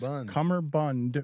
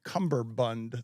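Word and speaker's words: cummerbund: is I am sh it is CER Bund with no be no bun for me I uh I want to put it on the poll at lebatard show have you pronounced it cumber Bund the entirety of your life I have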